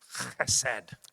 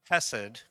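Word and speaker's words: חסד: And this is one of my favorite Hebrew words Y esta es una de mis palabras hebreas preferidas, because you have to say it like this, chesed.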